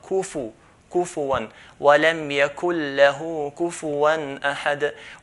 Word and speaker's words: كُفُوًا: The fa, we should not pronounce it as a sukun. Pronouncing as a sukun is wrong. So it's not kuf one, kuf one, but kufu one.